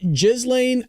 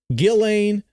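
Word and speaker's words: Ghislaine: Justice Department meets with Is it Jizlane? I Okay, I've heard it as Gillain where the S is silent.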